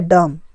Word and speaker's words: dumb: अब होता है डम, DUMB, इसमें भी यम के बाद बी आया है तो डम हुआ, बी यहाँ पर साइलेंट हो गया।